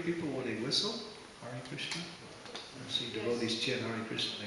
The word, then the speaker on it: Krishna: he also stressed the importance of chanting cleanly kishna kishna sometimes in Kiran in ecstasy the Ecstasy somehow overshadow our pronunciation that's a right if it's Ecstasy but if it's not ecstasy that's something different but not everyone understands your ecstasy so try to pronounce it right r or what